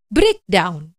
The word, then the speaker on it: break down: jadi disini disebutkan bahwa Ada kesamaan penekanan pengucapan untuk kedua kata tersebut yaitu untuk kata break dan juga untuk kata daun Harus rata sama tidak ada yang lebih tinggi dari yang lainnya breakdown ya Nah dalam bahasa